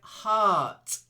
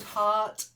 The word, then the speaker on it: heart: meant augment that's it then heart not like hurt a good heart is hard to find